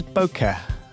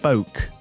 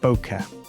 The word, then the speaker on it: bokeh: Mike Johnston, the editor at the time, was getting increasingly frustrated that English-speaking people were incorrectly pronouncing it boke, like joke.